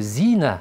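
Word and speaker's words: زينة: Біреуі Зина деп қояды, біреуі Зина дейді. Яғни ударениесіне бірінші и-ді созады, екіншісі а-ны созады. Ал жаңағы күнәні оны Зина дейді. Зина а деген әріп созады. Ал зина болатын болса, ол сән деген мағынаны білдіреді.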